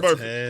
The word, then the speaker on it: Burfict: How you pronounce it? Vontez Burfict.